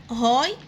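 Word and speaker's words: high: ارتفاع ضغط الدم هاي بلاد بريشر. هاي حرف الاتش بننطقه اهي، والجي اتش سايلنت حروف صامتة.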